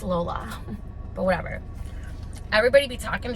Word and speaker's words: Lolla: And people say Lola, Lala. Look, it's spelled Lolla. I've been saying Lala my entire life. I think you can say it either or. But if it wants to be Lala, spell it Lala. I'm pretty sure it's Lola.